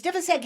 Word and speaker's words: Divisek: And she'd say, just say you're Divisek. And I'd be like, nobody knows how to say Divisek. And I'd call, and it's Divisek. Oh, okay, Divisek, I'll call you. It's Divisek.